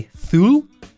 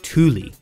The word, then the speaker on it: Thule: back of your car are they made by thu fully full in fact all of these are wrong it's actually thule want to lock up your bike nice and